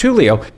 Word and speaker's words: Julio: But for some reason, when you saw Julio, he said Julio, and we say, well, listen, it's pronounced Julio.